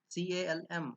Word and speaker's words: calm: CALM, calm. It is not calm, it is calm. L is silent.